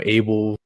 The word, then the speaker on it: Abel: yeah, No, yeah, I mean, I wanted to change my name in the very beginning because Abel rhymes with table, and then blah blah blah.